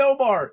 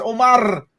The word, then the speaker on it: Omar: Everybody calls me Omar when it's not even Omar. It's Omar. Come on now. Oh, we have to roll that R? I don't even correct anybody. Omar.